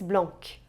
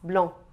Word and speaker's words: blanc: Por outro lado, você jamais deve pronunciar a consoante C no final de blanc. Não é le lys blanc, é le lys blanc, tá?